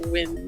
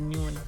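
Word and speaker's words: Nguyen: it is okay and it's actually pronounced win usually oh i thought it was a new one you said it's pronounced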